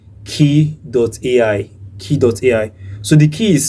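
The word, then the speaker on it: Kie.ai: So you need to search for a particular website called key.ai. Key.ai. So the key is spelled as K-I-E.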